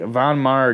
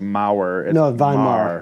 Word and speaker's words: Von Maur: was purchased in the Von Maur gift Department and for those wondering it is not pronounced mower yeah I know my